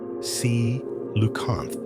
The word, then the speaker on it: coelacanth: The coelacanth, pronounced sea lucanth.